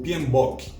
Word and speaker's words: PMBOK: gerenciamento de projetos ou pinboque é atenção para pronúncia que é bope tá não é book são as iniciais de